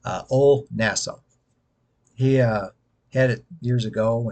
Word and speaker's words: Old Nassau: one called Old Nassau, Ol as in OLE, kind of like if you know the college Ole Miss, they spell it OLE, Ol, not old, Ol Nassau.